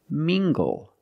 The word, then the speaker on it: mingle: look at this word mingle using the nasal sound and the hard G together mingle mingle mingle is a